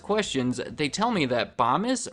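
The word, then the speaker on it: Bomis: I know it's pronounced bomb is because under their frequently asked questions they tell me that bombus rhymes with Thomas right above does the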